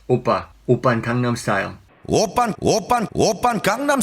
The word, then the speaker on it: 오빠: The pronunciation of double P in the middle is not pa. It's not oppa, it's oppa.